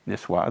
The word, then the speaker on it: Niçoise: And this is a Niçoise salad after Nice, Niçoise, that's how they pronounce it.